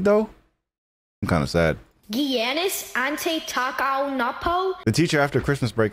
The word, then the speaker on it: Giannis Antetokounmpo: Sound off for this wild pronunciation. Holy freaking moly. Giannis Antetokounmpo? Bro, it's Giannis Antetokounmpo, bro. It's not hard. Just watch basketball. I mean, you don't watch basketball. But Giannis Antetokounmpo.